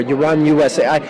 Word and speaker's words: UranUSA: pronounce the title of it's basically like uranus with like an a at the end because the last two letters of uranus are us um the book will